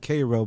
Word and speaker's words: Cairo: Illinois Illinois oh man they call it Koo but it spelled like Cairo okay yes that's why